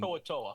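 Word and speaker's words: To'oTo'o: How do you pronounce that one? I always butcher that one. Toatoa.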